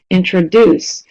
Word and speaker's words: introduce: box, so da-da-da, again, you notice how those are both verbs: understand, introduce, reinvent, okay? So not always, but often verbs are stressed more on the last syllable.